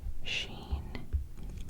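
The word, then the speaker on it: شين: scene and also oops Sheen it's like the sh and Shadow sh Sheen so yeah they're very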